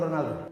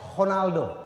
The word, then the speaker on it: Ronaldo: ada yang tahu Cristiano Ronaldo yang betul ada tahu apa Cristiano Ronaldo R dijadiin H karena dia adalah orang Portugis Jose mourho salah kalau